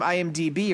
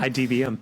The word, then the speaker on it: IMDb: I discovered this from IMDb, or as you would say, IMDM, or whatever the fuck you always say. You always say it wrong. IDBM.